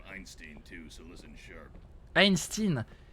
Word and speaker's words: Einstein: Einstein. Les Américains ils prononcent vraiment Einstein, Einstein. J'ai jamais compris pourquoi ils prononcent Stein comme ça. C'est Stein bordel.